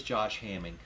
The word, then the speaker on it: Hamming: It is Josh Hamming. I didn't want to mispronounce his last name. I wanted to check it. It's Josh Hamming, the head tech director for IHRA, is coming on next Thursday.